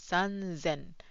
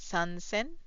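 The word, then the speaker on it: sanzen: So it becomes szen. It's not sansen because it's hard to pronounce.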